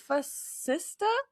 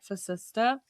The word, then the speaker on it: Facista: We have Kaitlyn Facista. Is that... I'm saying it right. Facista?